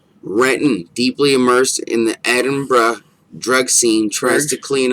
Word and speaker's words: Edinburgh: It says it's spelled like Edinburgh, but they say it like Edinburgh.